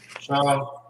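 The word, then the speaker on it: שהם: Onyx is how you say onyx in the Hebrew? Shaham.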